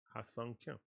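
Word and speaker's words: Ha-seong Kim: It's Ha, and his name is pronounced like Song. So Song Kim. Ha Sung Kim. Easy. Like sing a song. That's how it's pronounced, like that.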